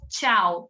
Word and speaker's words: tchau: Então, a gente lê tchau. É uma palavra difícil mesmo, Letícia. Um monte de consoante junta, mas Terminei. Tchau. Porque o T é mudo.